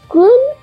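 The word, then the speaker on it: 金: নিচি হলো এর কুন উচ্চারণ, আর হি ও বি হলো এর ওন উচ্চারণ।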